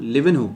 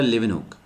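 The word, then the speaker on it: Leeuwenhoek: Then after some time, कुछ सालों बाद, एंटनी वॉन लिवनहुक, या इसको एंटन वॉन लिवनहुक भी बोलते हैं क्योंकि लैंग्वेज का डिफरेंस है, so that's why spelling could change, so we always consider लिवनहुक।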